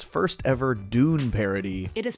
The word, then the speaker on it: Dune: an absolute classic episode and its first ever Dune parody it is pronounced dun but did parasites regained live up